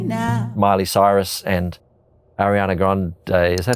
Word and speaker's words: Grande: Miley Cyrus and Ariana Grande, is that how you say it?